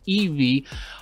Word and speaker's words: ibi: the e me weld i bi but pronounced evey home personal cloud so